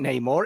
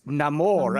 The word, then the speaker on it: Namor: to change the pronunciation this isn't Neymar it's Namor a completely different character